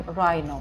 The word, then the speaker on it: rhino: RH читается как R просто, а так как это буковка I, то мы читаем Rhino.